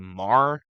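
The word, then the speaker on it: Maher: Fetterman tells Bill I I never was able to pronounce his name, Mar. Yes, yeah. Yeah, yeah, it's Mar.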